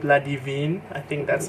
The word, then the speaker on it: Ladivine: This one is by Miriam and NDiaye, and this one is called Ladivine. I think that's how you pronounce it. Perhaps it's not Ladivine, it's Ladivine, because it's originally in French.